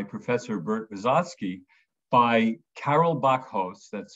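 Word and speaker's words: Bakhos: was directed by Professor Bert Vizotsky by Carol Bachos, that's spelled B-A-K-H-O-S, who is now a professor of Jewish studies at the University of California, Los Angeles.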